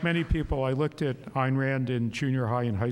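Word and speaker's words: Ayn Rand: the question is about Ein Rand um as she said it's a rhymes with swine um she did have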